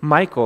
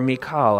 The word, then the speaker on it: Michal: scripture reading as well in Michael or Michal I've heard her name pronounced both ways but we read that